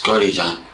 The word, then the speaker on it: Godejohn: and what is your last name it's gy John and how do you spell that it's j o d e j o